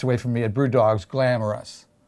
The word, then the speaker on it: Glamrus: Glamorous, Glamorous. It's spelled Glamrus.